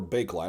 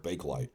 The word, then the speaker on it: Bakelite: backlight or bakelite. I've always heard bakelite.